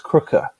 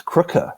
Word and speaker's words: Krige: yeah so yeah so David David getting Alice kriger for it or or as she pointed out if you if you're doing pronouncing it correctly the proper South African ways it's Alice Kooker it's Kooker apparently but but she's just she's just grateful